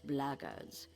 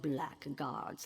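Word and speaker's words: blackguard: another one of those bloggers and that's the way to pronounce it not black guards like that thug insisted it was then my answer is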